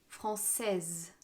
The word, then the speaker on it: française: différence de prononciation français françaises portugais portugaise le s à la fin donne un son quand il est au féminin les nationalités qui ont